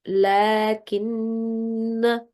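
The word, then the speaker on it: لكن: In that case, this alif will not be read. Then it will be written like this, but it will be read like lakin. So as if there is no alif present. But if you have to make a pause like here or here, then you would read that as alif madya. You would say lakinna.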